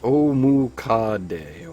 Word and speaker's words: Omukade: But pronounced Omukade.